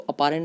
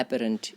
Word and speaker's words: apparent: इसको अपारेंट नहीं बोलते, एपरेंट, APPARENT।